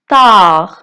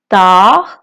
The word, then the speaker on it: tard: tard tard মানে দেরি। এখানে ডিটা সাইলেন্ট।